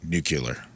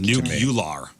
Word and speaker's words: nuclear: talk about anything nuclear if you're pronouncing it nuclear nule nucular nucular like it's nuclear nuclear nuclear not nucle nuclear you can't even do it on accident nuclear nuclear someone says